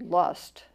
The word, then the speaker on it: Lust: They're about, the Germans have a wonderful word, which is spelled like our word lust, but it's pronounced Lust or something close to that.